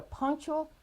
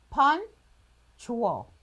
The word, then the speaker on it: punctual: There is a sound that may not be familiar to you.